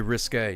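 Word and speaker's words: risqué: It's very risque. Yeah, risk uh is not pronounced like bisque, even though it's spelled similar.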